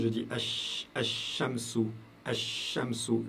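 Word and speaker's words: الشمس: Par contre, j'ai écrit ici quand je prononce, je dis Ash-Shamsu. Ash-Shamsu. Je prononce plus le lam.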